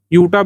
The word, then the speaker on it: Utah: यूटा भी कहते हैं, ऊटा भी कह सकते हैं, जो आप ध्यान रखें, UTAH जो है स्पेलिंग है।